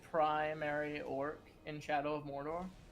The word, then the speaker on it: Mordor: Morador. Mordor. Morador. Pronounce it. There is extra level. Mordor. Extra level. Mordor. It is like corridor.